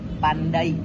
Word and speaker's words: pandai: Contohnya dalam bahasa Indonesia, kata pandai mengandung diftong ai. Saat diucapkan, bunyi berpindah dari vokal A ke I. Jadi diucapkannya seperti pandai.